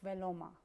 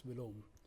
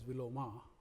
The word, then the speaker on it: Viloma: That's Vilom. Here, people pronounce it as Viloma because last A is always pronounced here, but actual pronunciation is Vilom.